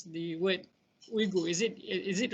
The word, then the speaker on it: Uyghur: Nowadays it's been began to use Uyghur. Uyghur. So we can pronounce Uyghur.